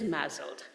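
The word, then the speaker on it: MASLD: associated stetic liver disease kind of pronounced as mled like there's a z in it and it's really I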